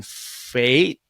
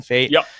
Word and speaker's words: Pfaadt: a debut last year I'm going to say his name wrong because it's spelled bizarrely but Brandon fate Brandon fate pfaadt Brandon fate it's been bad in